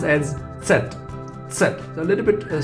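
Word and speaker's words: Zett: z is pronounced as set except a little bit a silent sound from d but more strong in z and t in the end strong d set set you can say like in pizza so sal and are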